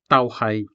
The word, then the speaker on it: tauhay: The syllable tau ends in a diphthong ow, formed by the pairing of the vowel A and the semi-vowel W. However, this diphthong is followed by the syllable hai, which starts with a consonant. Because the second syllable begins with the consonant H, the two syllables are written as one continuous word, tauhay.